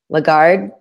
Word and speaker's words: Lagarde: And he said, it's like apple pie. Lagarde, like apple pie.